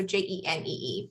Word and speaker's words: Jenée: And that's spelled like Renee, but with a J, so Jenee.